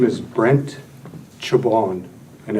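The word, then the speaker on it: Czaban: I didn't catch it my name is Brent chabon and it's spelled Charlie Zulu alpha bravo Alpha November thank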